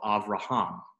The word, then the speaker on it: Avraham: So Avraham. If the resh had the accent of raham, then you would probably have a different vowel in the last syllable. It would probably be something like avrahem with hem instead of ham, but allowing it to have that long A because of the accent.